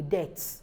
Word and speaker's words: debt: now somebody will ask what's the difference between d e b t and d e a t h now the th is not so the difference is that why this is debt I'm owing a debt the other one says death is knocking death is knocking you see that you hold your upper teeth you know your upper your lower teeth they hold on to the tongue while pronouncing d-e-a-t-h but in this one